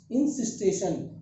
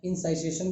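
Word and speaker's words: encystation: Cyst is known as इंसिस्टेशन। क्या बोल सकते हैं बेटा? इंसिस्टेशन। क्या बोलेंगे? इंसिस्टेशन। प्रोनाउंसिएशन कैसे भी होगा? इंसाइसेशन भी बोल सकते हैं। चूंकि हमने सिस्ट बोला तो इंसिस्टेशन बोले तो चलेगा।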